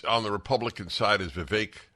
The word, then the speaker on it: Vivek: One of the candidates on the Republican side is Vivek. It's pronounced Vivek, by the way, not Vivek.